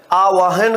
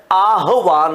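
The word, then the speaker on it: आह्वान: दोनों ही अशुद्ध है तो आवाहन आवाहन किया है इसका तो ये गलत होके शुद्ध क्या है आहवान होता है तो यहां उल्टा क्रम हो रहा है जिसकी वजह से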